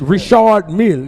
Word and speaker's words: Richard Mille: No, it's not even Richard. It's Richard Mille.